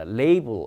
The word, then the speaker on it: label: 예, 발음은 label이라고 합니다. label 이제 라벨을 붙이는 거니까 수동태로 라벨이 붙어 있다.